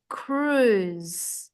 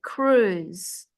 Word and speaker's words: cruise: And this word is cruise. It's like a double O, cruise, view, food.